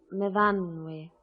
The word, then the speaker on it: Myfanwy: We pronounce it Myfanwy.